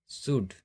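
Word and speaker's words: should: इसको हम नहीं उच्चारण कर रहे हैं, इसका उच्चारण नहीं कर रहे हैं। इसी तरह से आगे देखते हैं वुड, शुड।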